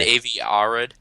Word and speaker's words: Avi Arad: How is it pronounced? Feige. It's Feige. Is it really? Yep. Okay, that's okay. And Avi Arad.